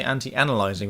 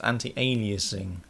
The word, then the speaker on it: anti-aliasing: by somebody um yesterday on Skype for say anti- analyzing it's not anti- analyzing it's anti-aliasing apparently which is that was like a t